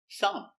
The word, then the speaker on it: thumb: Thumb. Silent B.